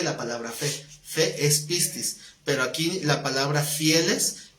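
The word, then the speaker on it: πίστις: No, Pistis.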